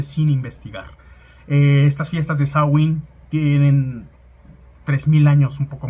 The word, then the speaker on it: Samhain: noche de Samhain, la que se escribe como Samhain, pero se pronuncia Samhain, en la cual, celebrando entre otras